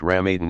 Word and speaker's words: Ramadan: with almsgiving daily ritual prayer fasting during Ramadan pronounced RAM Aden and pilgrimage to Mecca all of which will